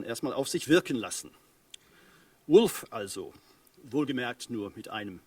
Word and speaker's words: Wulf: Wolf. 2011 erschienen. Ja, Wolf. W-U-L-F geschrieben, genau wie W-O-L-F ausgesprochen, also der Wolf, aber U-L-F geschrieben.